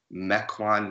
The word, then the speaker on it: Mequon: the list is 86 80 cracking opinion from Mequon Wisconsin I say that correct yeah you said